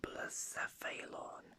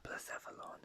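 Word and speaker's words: Blacephalon: balloon but lecephalon but i think i should actually change my pronunciation from plus saphalon to blecephalon because placephalon makes sense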